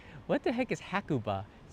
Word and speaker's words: Hakuba: what the heck is hakuba hakuba hakuba ha it's kind of not in you know Kuba hakuba if you don't pronounce it correctly sometimes Japanese won't know what you're talking about which is kind of